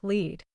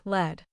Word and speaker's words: lead: When you talk about the lead singer in a band, it sounds like lead. But when you talk about lead pipes, the metal, it sounds like led.